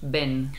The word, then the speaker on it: ven: una cosita y un en español la v se pronuncia como la B la B no es ven vale es ven más similar a la B que la v es muy bienes Muchas